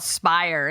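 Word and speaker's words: Spyre: the scrolling down Tennessee theirs is called spire and it says which sounds more like a high-end crime organization than an IL Collective I thought that was funny it really does it's and it's spelled like s-p-y-r-e I mean it's like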